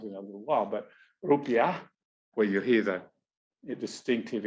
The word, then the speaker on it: rupiah: Yes, it's rupiah.